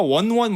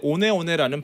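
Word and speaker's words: One One: 어, 영어로 보면 호카 원원 뭐 이렇게 보이는데 오네오네라는 발음인데 이게 사실은 뉴질랜드 어입니다.이 마오리 조이라는 족이 있죠.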